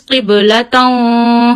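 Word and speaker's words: قبلة: So this is qiblatun. Hide the voice of two fatha and take it into the nose and stretch it up to one finger.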